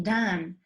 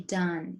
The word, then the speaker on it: done: as when you say done i've done it you don't say don you say done yes careful with that